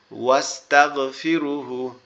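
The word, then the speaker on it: وَاسْتَغْفِرُهُ: ওয়াস্তাগফিরু, এখানে দেখেন এই আলিফটা কি হচ্ছে না, উচ্চারণ হচ্ছে না। ওয়াস্তাগফিরুহু, ওয়াস্তাগফিরুহু।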